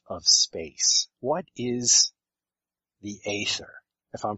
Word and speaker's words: ether: the substance of of space what is the ather if I'm pronouncing that correctly yeah e ether it's spelled in two different ways e t e